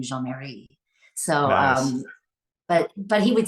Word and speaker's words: Jeanne Marie: but my name is actually Jeanne Marie, which is a French name, Jean Marie.